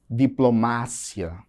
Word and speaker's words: diplomacia: Diplomácia. No português, eu digo diplomacia.